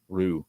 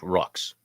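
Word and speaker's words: roux: then I just stopped it was like Rue okay thank you I knew it wasn't rocks rocks so it bugs me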